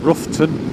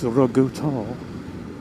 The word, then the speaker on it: Roughton: You say Roughton or Roughton, and somebody will come back and say, oh no, it's Rogutal.